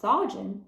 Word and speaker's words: Saajin: and proud of it when you don't pronounce it as saen it loses its meaning Saun was surprised to